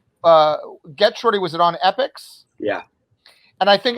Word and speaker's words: Epix: But I think the first season of Get Shorty is on Netflix, which rhymes with Epix.